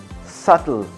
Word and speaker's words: subtle: in these cases okay now the last one subtle that be in that subtle is not subtle